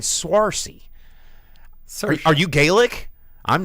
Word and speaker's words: Saoirse: Saoirse. It's Swarcy.